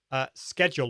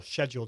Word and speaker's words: schedule: explain but you can't schedule or schedule depending on how you pronounce it to a Facebook live within restream so you can schedule a YouTube live video but you can't shed you'll a Facebook live video